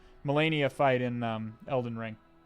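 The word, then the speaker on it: Malenia: of the molini uh molinia flight fight in uh or melania i think it's pronounced melania fight in um elden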